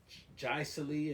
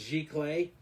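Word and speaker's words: giclée: and and people say jaiceli and they say all kind of but it's a French word it goes jic clay and gic clay printing is is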